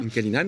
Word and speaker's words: Menkalinan: Alors dans cet album, il y a des titres comme Bellatrix ou Menkalinan, j'espère que je prononce bien. Menkalinan, ouais.